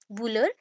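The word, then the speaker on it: Bühler: Concept was discovered by बुलर, that is अ बुलर, एच नहीं pronounce करेंगे, ठीक है, बुलर, गैसल एंड थॉमसन।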